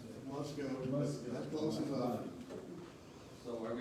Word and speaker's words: Musco: Okay, Casey, we'll make your way to item 7.2, discuss parks, capital lighting, presentation, Musco, how you pronounce that? Musco. Musco.